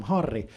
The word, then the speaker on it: Harri: difficult for Portuguese speakers because in Portuguese, if a word starts with an H, you don't pronounce the H. If there's a double R in the middle of a word, it turns into this weird throat sound like